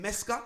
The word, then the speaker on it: Meska: Yeah, how do I pronounce that? DJ Meska? Yeah, just like that. Meska.